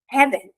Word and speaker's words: haven't: Ele tem que sair como haven't. O T é quase nada. Haven't, mas o N tem que ter. Nem vou pôr esse T porque ele não aparece mesmo na pronúncia, mas o N tem que aparecer.